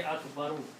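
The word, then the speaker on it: أكبر: So the sound will be Allahu Akbaru. Okay, Allahu Akbaru. Same thing will happen. Last letter here has a dhamma here on Akbaru. When you stop, you can pronounce Akbar.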